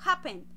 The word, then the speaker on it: happen: dan cuenta soy yo no digo happen digo happen estoy haciendo la fuerza de la entonación en la primera sílaba por eso acá no